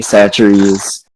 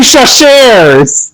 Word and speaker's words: Chachere's: department for introducing I'm like- me to the great taste of Tony Chachere's Creole seasoning. Oh my god, it's you fucked up the pronunciation on fucking purpose. What? What is it? It's Tony Chachere's.